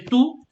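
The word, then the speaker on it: tout: means everything or all so you say two you don't pronounce the t okay two and the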